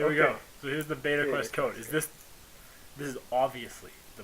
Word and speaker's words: Beta Quest: No, today we're going to show you guys the beta quest from Ocarina of Time. It's pronounced Beta Quest. It's beta. Like meta.